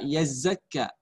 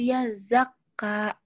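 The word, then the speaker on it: يزكى: Hanifah kesalahannya hanya di ayat 3, yaitu di kata yazakka. Tadi Hanifah bacanya yazakka. Kenapa saya katakan salah? Tadi karena saya dengar huruf zai di sini dengan zal sama kamu membunyikannya.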